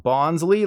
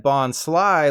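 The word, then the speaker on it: Bonsly: pre-evolved form of Sudowoodo isn't pronounced bonsley like Bruce Lee instead it said Bond Sly like fly Cooper or sliced alone why Sly is the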